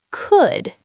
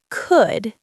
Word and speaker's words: could: What is could? Okay, Ethan, our first word, could. C-O-U-L-D. Could. It sounds like would, but with a K sound at the beginning.